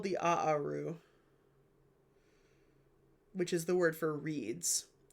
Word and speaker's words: Aaru: the it's called the aaru which is the word for reads. So the field of ruds is the second aaru. Aaru a a r u technically is like sort of how you pronounce it.